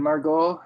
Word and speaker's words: Margaux: m-a-r-g-o-t to the coming of margaux the way that's spelled m-a-r-g-u-8 j-m-a-r-g-a-u-x because she loved the wines of margot so much i guess it's one of the